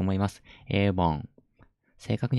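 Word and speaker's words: 일본: は a ウォンエイボンですねいう本エイボンですねメモカ発音確認しましょう avon エイボン avon エイボン avon エイボンが日本です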